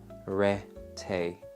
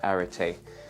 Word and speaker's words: Arete: So it's pronounced Arete, so Arete, and it's the 25 litre capacity.